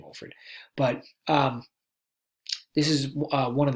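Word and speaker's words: Wofford: to get that name Wolford but it's not pronounced that way it's actually Wohlford but this is one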